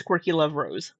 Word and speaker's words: QuirkyLoveRosee: I want to say her name correctly, so I guess it's QuirkyLoveRosee with two E's.